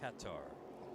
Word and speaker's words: Qatar: Katar. Katar. Katar. Katar. That the like the official US state department is cutter. Actually, the folks that have been to race there, pronunciation is Qatar.